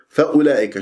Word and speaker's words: فأولئك: مع جواز الوقف هنا، فأولئك شوف هذه الواو، هذه الواو فوق صفر المستدير في كلمة فأولئك تكتب ولا تلفظ، يعني كأنه عندي همزة